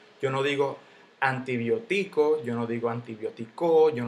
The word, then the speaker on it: antibiótico: digo antibiótico yo no digo antibiótico yo no digo antibióticos nada de eso yo digo antibiótico si se le pone su tilde porque porque las estructuras siempre llevan tilde siempre siempre y cuando el golpe de voz caiga en la antepenúltima han sido que este